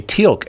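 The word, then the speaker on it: Teal'c: stargate uh tealq yeah has an apostrophe in his name but it's a silent apostrophe yeah well you totally just you just say tilk and there's nothing there yeah corresponding to the apostrophe and the pronunciation it's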